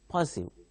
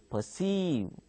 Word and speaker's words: perceive: Again, perceive. See, now don't say don't pronounce it as perceive. You pronounce it as perceive. And also R is silent here.